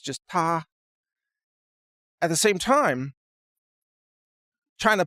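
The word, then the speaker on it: 他: They use an article or a pronoun that's pronounced ta, and you say, ta kai ce means he's driving his car, or she is driving her car.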